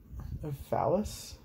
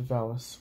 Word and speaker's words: valise: They sealed the cardboard valise? It's spelled V-A-L-I-S-E.